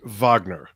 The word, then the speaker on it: Wagner: favorite Yes album and I probably should have pronounced it Vagner oh yeah yeah makes